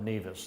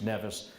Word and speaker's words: Nevis: born on the island of Nevis nevus depending on how you want to pronounce it and at the age